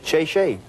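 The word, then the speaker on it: 谢谢: Oh, thank you in Chinese is shay.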